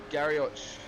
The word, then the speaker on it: Garioch: sim racing and then nicholas garioch i believe i pronounced that right aidan i believe you pronounced it earlier am i pronouncing that one right oh garrett but uh no doubt